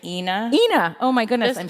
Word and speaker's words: Ina: my own head I didn't want it to rhyme with a certain part of your body oh my god I've really associated with Ena how embarrassing and I didn't realize that until later I was like okay Ena when I did the audiobook I was like it's Ina okay Fab from from henceforth